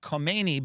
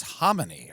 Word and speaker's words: Khomeini: because, by the way, I was always saying Ayatollah Kmeni, but it's homony or something. I I just realized that, but oh boy, here we go. Moaba homonyy.